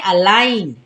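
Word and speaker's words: align: है silent for example अलाइन अलाइन में अगर आप ध्यान दें तो जी जो है वो एन से पहले आया है तो यहां पर जी हो जाएगा साइलेंट तो क्या पढ़ेंगे अलाइन साइन यहां पर भी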